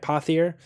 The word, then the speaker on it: Pothier: Pothier. Like a fathier.